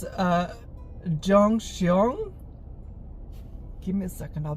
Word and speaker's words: Gyeongseong: I think it's uh Jong xong give me a second I'll be back okay I'm back so it's pronounced Yong xong it's so it's Yong xong creature and I think